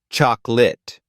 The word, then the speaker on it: chocolate: Similarly, chocolate is usually pronounced as chocolate. These reductions are not lazy, they're just part of the rhythm of natural English.